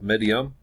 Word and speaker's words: Meidum: to look at today at the Pyramid of midium and that's how you pronounce it and pronunciation isn't one of my